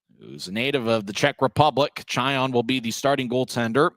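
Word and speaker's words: Čajan: Pavel Chayon, whose last name is spelled Cajan.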